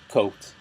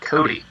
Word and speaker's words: Cote: I'm Christian Ocampo, and today I'm being joined by Cote. How are you doing, sir? I'm doing well. It's actually pronounced Cody.